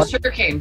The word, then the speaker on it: Sugarkain: Oh, the Sugarkain. Sugarkain music. Yep. So yeah, it's spelled the way it sounds, but the cane is with a K.